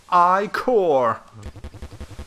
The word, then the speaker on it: Ichor: fill it with magical I core that's pronounced I core choose your I core